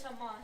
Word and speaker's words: Haman: right way to pronounce it is Haman.